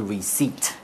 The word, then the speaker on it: receipt: 收据的英文就是 Receipt。 Receipt。它的 P 拼音呢是有一个 P，但是这个 P 不发音，所以就念 receipt。